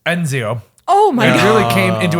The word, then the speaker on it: Ezio: protagonist Ezio was introduced he pronounced it right Enzio oh my really came